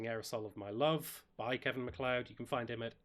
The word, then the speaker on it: Kevin MacLeod: I think it's Kevin MacLeod.